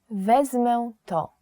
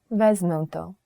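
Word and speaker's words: wezmę to: say it in polish in polish you would say vesmonto i would like this vesnunto just simply point at the thing and say vesmonto i would like this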